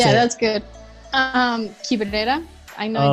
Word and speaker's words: Quibrera: Quibrera.